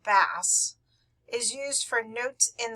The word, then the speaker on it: bass: we're talking about the bass clef pronounced bass not bass is used for notes in the lower pitch ranges the bass or f clef has